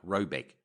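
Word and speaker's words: Råbäck: The manor house or herrgård in question is to be called Rayback, pronounced something like Robeck, though it is not its name.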